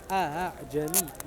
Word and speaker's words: أعجمي: So you don't pronounce it as a, the first one is a, the second one is between a and a ha. They say أعجمي وعربي, like that.